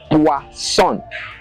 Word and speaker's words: poisson: But when it is two S, it is pronounced as S, as in boisson. Poisson.